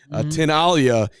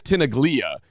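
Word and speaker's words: Tinaglia: run as the mayor tinala is it's it's not when you look at it you would think it's tinaga t i n a g l i a um and I don't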